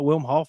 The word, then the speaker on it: Wim Hof: is beautiful man uh w-i-m-h-o-f-f for those who um don't understand the pronunciation because I know I didn't understand it at first like well you know thought it was William but yeah man that